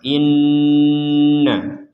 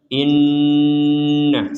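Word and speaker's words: إنّ: Ibrahim nah seperti itu di sini ada Nun bertasdid maka kita membacanya dengan dengungan Inna Inna seperti itu jadi didengungkan di rongga hidung kita panjangnya walaupun Sebenarnya bukan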